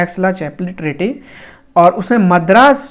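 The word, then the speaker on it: Aix-la-Chapelle: Treaty का नाम था एक्सला-चैपले treaty. Pronunciation might be different guys, please do not mind, बहुत लोग इसको अलग भी पढ़ते हैं, इसको हम ऐसे पढ़ते हैं एक्सला-चैपले ट्रीटी।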